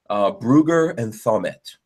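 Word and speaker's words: Brügger & Thomet: Let me pronounce this properly. Brugger and Thommet.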